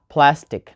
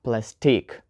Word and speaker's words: plastic: So we have plastic, not plastique.